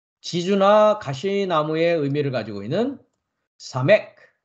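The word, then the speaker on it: סמך: 다음 글자는 지주나 가시나무의 의미를 가지고 있는 사맥, 사맥, 사맥라는 글자이고 시옷 발음을 합니다.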